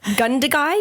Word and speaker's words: Gundagai: Gundagai, New South Wales.